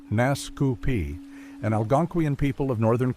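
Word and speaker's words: Naskapi: The Nuscapi, pronounced Nascu Pi, an Algangquian people of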